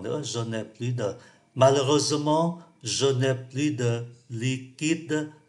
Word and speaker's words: Malheureusement: Malheureusement, chúng ta không phát âm cái từ ơ này.